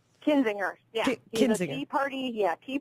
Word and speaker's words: Kinzinger: for congress in Illinois's 16th District against Adam kininger is am I pronoun pronouncing that correctly kinzinger yeah tea party yeah tea party freshman Adam